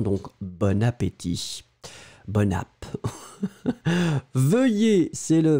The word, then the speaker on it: bon appétit: masculin l'adjectif est bon mais on fait la connexion donc on prononce bonne appétit vous entendez bonne mais c'est vraiment bon bon appétit mais on va faire le lien donc bon appétit bon ap veuillez c'est